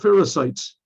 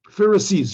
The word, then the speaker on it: Pharisees: the how do you say the anti-semites called pharisites pharisees pharisees oh the pharisees and um these were